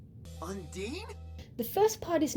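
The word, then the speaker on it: Ondine: Just looking at the spelling, the first part looks like on. The second part looks like dine, like dining in a restaurant. But if you check the episode siren and find when Kim says it, you'll find the answer. It's unde.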